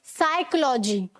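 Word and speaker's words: psychology: है वो साइलेंट होगा, एस से पहले वाला पी भी साइलेंट होता है। साइकोलॉजी, ठीक है, साइकोलॉजी मतलब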